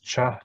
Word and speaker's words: cha: Cha. Cha means 6. The H, cha. You got to pronounce with a little bit of plosive, we say, a bit of small explosion, cha.